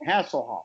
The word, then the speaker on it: Hasselhoff: Don't you ever put some respect on that name, Hasselhoff. That's how you pronounce it.